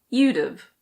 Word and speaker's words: you'd've: You would have becomes you'd've.